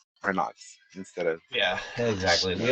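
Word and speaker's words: Renoux: In French, OUX is pronounced O, not wa. Also, is this email okay to send spoilers to? Kyle. That was Kyle's email. Kyle, I need you to say Renox instead of...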